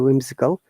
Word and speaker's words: whimsical: it and it is whimsical okay not cal because of a shots under the end of the whimsical so it should be whimsical uh similarly when overwhelmed